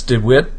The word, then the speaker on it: DeWet: not a name familiar with some folks that's dwit D toy and it's spelled D E W T du t o